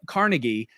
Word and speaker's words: Carnegie: brought it up that the foundation in New York says that both pronunciations are technically correct, although if you're in America, you're more apt to say CargI than or I mean uh, Carnegie.